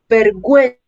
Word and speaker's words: vergüenza: Ahora bien, si además del sonido suave con las vocales E o la vocal I, se quiere pronunciar la U, entonces se escribe la U con diéresis. ¿Sí? La diéresis son estos dos punticos que ponemos sobre la letra U y es para indicar que debemos pronunciarla.